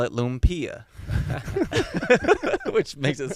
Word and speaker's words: lumpia: Is it lumpia?